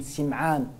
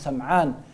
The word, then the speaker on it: Sim'an: de Thawban, ou bien Nawas ibn Sim'an, certains prononcent Sam'an, hadith de Nawas ibn